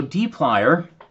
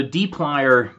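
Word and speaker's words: dplyr: the data frame okay so deep liar which apparently does not have an official pronunciation but I'm given to understand that it's intended to be reminiscent of pliers for twisting and manipulating stuff and it provides a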